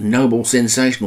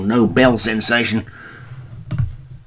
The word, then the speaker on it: Nobel Sensation: But it's a win for UNAS and Noble Sensation, or Nobel Sensation, to say it properly.